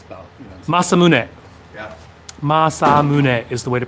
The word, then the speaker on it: Masamune: Masamune is the way to pronounce that.